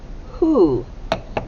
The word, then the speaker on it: who: o at the end now this word you don't hear the w at all but you hear what sound yeah you hear the h you hear the h